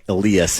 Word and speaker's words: Elias: on the Elias Pon which Eli Elias is the way he pronounces it um peton um it's weird they have they have two Elias pons but both pronounce their first names differently right um but Alias uh